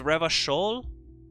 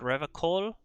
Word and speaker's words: Revachol: Oh, it's Revachol, not Revacol.